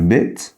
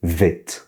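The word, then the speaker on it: ב: a le point et il se prononce V quand il n'a pas le point. D'ailleurs, certains vont appeler cette forme là le vê parce que il se prononce ve.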